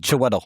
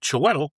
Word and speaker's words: Chiwetel: So, recent insider reports and industry leaks strongly suggest that Chiwetel Ejiofor I know I butchered it. Chiwetel. Yeah, Chiwetel.